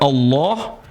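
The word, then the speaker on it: الله: Kemudian berikutnya, karena ini adalah lafzul jalalah kalimat Allah. Kalau sebelumnya berharakat fathah dibaca tebal, Allah. Kalau sebelumnya harakat kasrah bismillah. Enggak boleh bilang bismillah.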